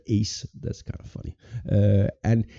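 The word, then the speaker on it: Ács: I was told that Peter Axe from Hungary, he was supposed to be the team captain. By the way, they have spelled his name wrong, so his name is Peter Ace.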